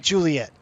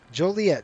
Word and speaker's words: Joliet: I like Juliet. It is Joliet. Joliet, just like it's spelled, right?